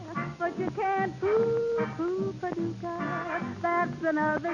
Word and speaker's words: Paducah: If you want to, you can rhyme it with bazooka. But you can't poo Paducah.